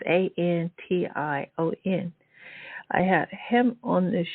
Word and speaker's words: Antion: Antion? It's so cool. It's Antion.